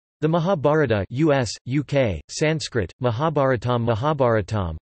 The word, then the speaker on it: Mahābhāratam: The Mahabharata US, UK, Sanskrit, Mahabharatam Mahabharatam, pronounced Ma-bhi-a-art-m, is one of the two major Sanskrit epics of ancient India, the other being the Ramayana.